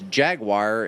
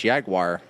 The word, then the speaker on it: Jaguar: I mean, it's in the U.S. it's Jaguar, and in the U.K. it's Jaguar. Jaguar. It's Jaguar. Yeah, see? That's what I said. Jaguar. Jaguar. Like the animal it's named after.